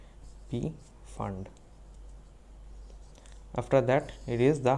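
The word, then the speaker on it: Pfund: is called p fund p is silent p fund after that it is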